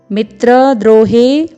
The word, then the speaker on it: मित्रद्रोहे: फिर है मित्र द्रोहे, द में पदेन रूप में र का प्रयोग है, फिर ओ का स्वर है, फिर ह है जिसमें ए का स्वर है मित्र द्रोहे, फिर है च, फिर पातकम म में हलंत।